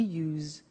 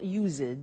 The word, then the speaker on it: used: don't have now we use used to look at the spelling s it's it's u s e d and then t o but the pronunciation is not usid it's us unusual used okay so the example